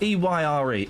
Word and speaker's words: Eyre: How do you say that? E-Y-R-E. Eyre. Eyre. Oh, sorry. Like Jane Eyre.